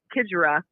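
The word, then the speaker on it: Xigera: They call her the X Factor because it starts with the X, but it's pronounced Kidgera.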